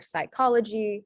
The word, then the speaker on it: psychology: the last one is the saw sound in greek when it's at the beginning of a word um it's often spelled with a ps um so examples of this are psychology som pseudology and then